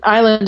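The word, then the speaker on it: Islay: was I went to the island of Isla which is spelled like is lay is le y and and at this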